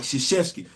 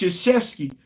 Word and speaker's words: Krzyzewski: That man last name start with a damn K. There's no S in there. I don't know how people can pronounce Krzyzewski clear as day, but